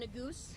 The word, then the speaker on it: Neguse: Following the governor, Congressman Neguse, NEGUSE, Just a couple of moments for will be slow speaking.